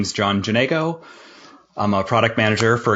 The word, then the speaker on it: Janego: This is another episode of the Real World Product Management, and I have Jon Janego. Am I pronouncing your name right?